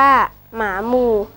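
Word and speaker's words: หมาหมู่: ดู ด้วย สำนวน ว่า หมา หมู่ อ่าน ว่า หมา หมู่ หมาย ถึง กลุ่ม คน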